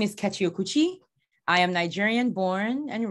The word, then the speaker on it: Kechi Okwuchi: I hope I'm pronouncing your name well. Kechi Okwuchi. yeah, you are Kechi. Yeah, you got it. Perfect. Kechi Okwuchi.